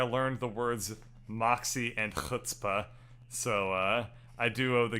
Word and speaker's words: chutzpah: and she was like oh that's pronounced hutzpah and it was like you say that again and she was like hutzpah i was like what is that what is that age sound I'd never heard it